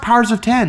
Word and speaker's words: Powers of X: that's a good question it's pronounced powers of 10 you'll understand when you